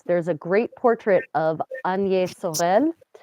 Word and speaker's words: Agnès: There's a great portrait of Agnès Sorel, you might pronounce her name Agnes, who was the famous